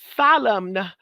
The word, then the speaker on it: solemn: So that's what solemn means. The N is silent.